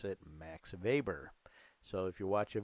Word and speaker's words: Weber: they pronounce it max weber so if you watch a video about him he'll say max weber because they pronounced the w like a v in germany and he was interested